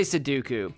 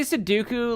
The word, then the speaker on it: Sudoku: I say seduku. I say suduku like uh count dooku but with s in front of it.